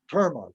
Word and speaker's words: terma: Terma or Torma or Terma, T-E-R-M-A.